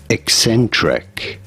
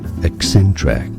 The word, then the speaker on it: eccentric: pronunciations are similar here Ecentric stress on the second syllable eent track and now